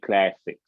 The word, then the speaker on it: Classix: okay, that would be on Click Classics. It is, so you spell it CILQUE, Click, and then Classics is CLASSIX. S.